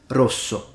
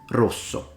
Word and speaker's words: rosso: So in Italian, red is pronounced rosso, rosso.